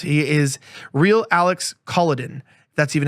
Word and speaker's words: Kolodin: He is Real Alex Kolodin. That's even how you pronounce it.